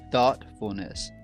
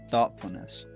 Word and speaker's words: thoughtfulness: it really just um the G and the H is silent it just really impacts the way we say the O and the U so it's thoughtfulness thoughtfulness thoughtfulness thoughtfulness don't sound